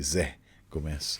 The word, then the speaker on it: Zé Gomez: I was pronouncing it all wrong, calling Z when it should be Zé Gomez.